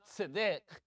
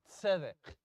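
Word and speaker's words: צדק: It's not tzedek, it's tzedek.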